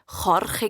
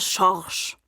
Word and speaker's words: Jorge: Der Schorsch war darum Spanier und hat eigentlich Jorge geheissen. Aber in der ersten Schulstunde hat der Herr Meier seinen Namen falsch ausgesprochen. Seither heisst er nur noch Schorsch.